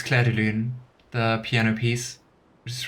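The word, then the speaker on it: Clair de Lune: I hope that wasn't completely I mean, Cla de Laloon, that's also like a No, it's Cla Deoon, the piano piece, which is really nice.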